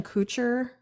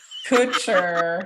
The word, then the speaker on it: Kutcher: But then her with Ashton Kutcher, and I know I'm saying his name wrong. Kutcher.